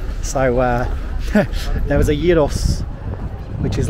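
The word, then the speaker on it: gyros: tastier than a kebab say Yos g y r o s i that's how you pronounce it Yos do correct me if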